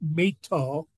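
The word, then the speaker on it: My Tho: me to a the city was called they pronounce it Mito it's m-y-t-h-o and it's a large large city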